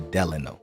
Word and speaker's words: Delano: sorry the delano like he's saying delano i'd have it the delano that's the correct way to say it please pardon me but